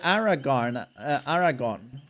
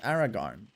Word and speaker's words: Aragorn: They were Aragon. Now, how do you say that in English? Aragorn.